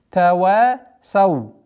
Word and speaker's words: تواصوا: Тава сау. Остановка. Тава сау. Нужно обращать внимание, что звук сад, твердый звук сау.